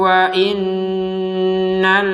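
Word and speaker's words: وَإِنَّ: Fawallu wujuhakum syatrahu wa innal ladzina utul kitab. Ada nun bertasydid, maka kita bacanya seperti yang sebelumnya ini, nun bertasydid, dibacanya dengan dengungan. Wa inna, jadi dengung dulu di rongga hidung.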